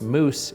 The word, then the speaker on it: Mooss: physician etc etc and our last name actually is pronounced moose in India where my dad is from but Moose means physician